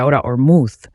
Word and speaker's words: Ahura Mazda: dorado él nos enseñó a adorar al dios ahura masta cuyo nombre se pronuncia ahora ormu comiéndose las letras y esto significa fuego dije